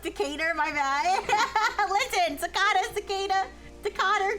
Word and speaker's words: Decatur: Oh, it's pronounced Decator. My bad. Listen. Sakata. Decada. Dater. Decator.